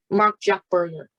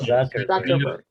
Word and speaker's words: Zuckerberg: Mark Jack Berger. Mark Jack Berger. No, isn't it Mark Zuckerberg? Oh, Oh, you're talking about Zuckerberg, right? Yeah, okay, yeah, kind of. Zuckerberg.